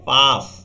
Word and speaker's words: pus: এটা বাংলায় বলা হয় কিন্তু পুস, ইংরেজিতে পাস। হ্যাঁ, তো PUS পুসও বলতে পারো তুমি। তাহলে এটা হবে ইংলিশে উচ্চারণ করলে পাস, বাংলায় উচ্চারণ করলে পুস।